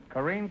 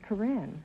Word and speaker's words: Corinne: them all this is Karine is that the way you pronounce it chlorine no Groucho it's Corinne Korean are you a housewife